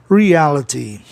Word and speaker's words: reality: Reality, olha aí, consoante Y no final, palavra proparoxítona, o ditongo abre em A, para você ouvir a palavra de forma proparoxítona, reality.